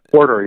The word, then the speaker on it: McWhorter: this guy, I don't know, how do you pronounce this name? John McWhorter? Do you know what I mean? McWhorter, yeah.